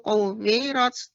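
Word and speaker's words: كُوِّرَتْ: Idza syamsu kuwirat. Kuwirat, tasydid waw lebih ditambahkan lagi, Nek.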